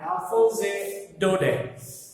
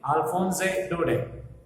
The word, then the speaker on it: Alphonse Daudet: The last lesson, as you can see on the board, it has been written by Alphonse Daudet. That's how we pronounce the name. French name है ये, Alphonse Daudet.